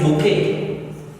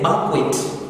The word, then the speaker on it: bouquet: The next one is bouquet. Bouquet is B-O-U-Q-U-E-T. Some of you say banquet, but it's supposed to be bouquet. The T is not pronounced. So it's a silent T there.